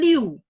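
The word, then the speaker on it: 六: Tulisannya liu, tapi bacanya bukan liu. Jadi ada o-nya sedikit ya.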